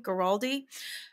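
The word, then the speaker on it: Guaraldi: Vince geraldi that's how you say his name geraldi every single item of that entire album is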